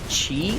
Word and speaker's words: qi: Do you guys know that chi is spelled like QI?